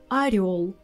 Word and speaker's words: орёл: Our tip here is when you have a word where you have together ё and о, you can be sure 100% that о will sound like а. Козёл, котел, орел. In these words, о will be always а.